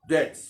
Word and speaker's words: debts: यूनानी में उधार के लिए जो लफ्ज इस्तेमाल हुआ, सिराई, CHREI, सिराई, और इंग्लिश में डेट्स, DEBTS, बी साइलेंट होगा, डेट्स।